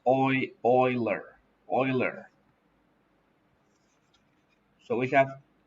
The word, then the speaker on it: Euler: have e number e euler's number remember is pronounced euler don't say angular it's oil euler euler so we have e raised to